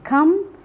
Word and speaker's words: come: words come and epitomy the final e is silent in come whereas it is realized